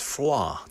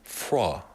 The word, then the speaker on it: froid: In French, it's froid. Froid. Like foie gras. Like F-R-O-I-D, froid. I don't think you pronounce the D.